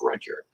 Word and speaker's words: Rudyard: is called if by rudyard kipling or rudyard kipling depending on where you're from um he was born in india but he's an englishman so i'm going to generally go with the english pronunciation of red yard even though that's not how i would say it and i do find